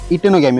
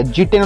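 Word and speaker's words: geitonogamy: होता है, ऑटोगैमी और इटेनोगैमी। ओके, या फिर इटेनो बोलने का, जी नहीं बोलने का, जीटेनो नहीं बोलने का। ओके, इटेनो बोलने का, ई आई मतलब जी इसमें साइलेंट होता है।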